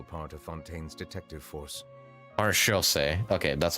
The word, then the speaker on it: Maréchaussée: Maréchaussée.